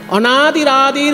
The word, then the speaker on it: অনাদিরাদির: যেমন অনাদির বিসর্গটা আদির সঙ্গে র হয়ে গেছে। তেমনি আদির সঙ্গে যে বিসর্গটা আছে ওটা গ এর উপরে রেপ হয়ে যাবে। তাই উচ্চারণ করতে হবে অনাদির আদির গোবিন্দ। অনাদিরাদির গোবিন্দা সর্ব কারণ কারণম